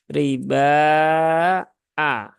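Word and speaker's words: الربا أضعافا: Ingat hamzahnya harus ditahqiqkan ya, diperjelas, jangan ar-riba ya. Bukan riba tetapi riba a ya, riba a.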